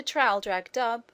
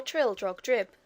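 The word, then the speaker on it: Traldragdubh: and my retinue to trial drag dub or Trill drug drip for it is pronounced both ways as near as I can remember by a party of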